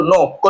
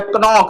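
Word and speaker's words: knock: बाद एन आ गया के एन ओ सी के लिखा है कनोक लेकिन पढ़ेंगे नॉक क्योंकि के बाद एन आया तो के साइलेंट के एन ओ टी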